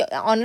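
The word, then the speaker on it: honour: अब यहाँ पे एच साइलेंट वाला सोच के मत चलना कि ये ऑनर है तो हम इसमें से आ और एन में से कुछ चूज करेंगे।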